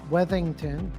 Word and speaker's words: Weathington: proud to have a conversation today with Jonathan wethington of shuck and Shack a great client a